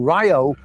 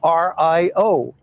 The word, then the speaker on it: Rio: at the idea of calling something ryo when it's spelled r-i-o they say oh no no no you're wrong it's rio no it's rail because rayo came from brazil and that's where this